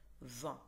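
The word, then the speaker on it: vingt: أوكي، وآخر شيء عندنا رقم فان، يعني هاي الإي إن بس اللي بتنطق، الجي تي كأنه ما إلها وجود، فان.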